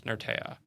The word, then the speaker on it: Nertea: How do you pronounce Nertea? Is it Nerti, Nertea, Nertea? There's a bunch of things you on got here. it. You got it right. It's Nertea.